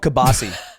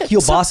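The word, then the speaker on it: kielbasa: It's also called kabasi. What? It's kabasi. No, it's not kilbasa.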